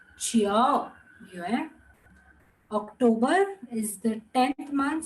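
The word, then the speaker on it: 九月: The Chiao, it goes up and down. Chiao Yue.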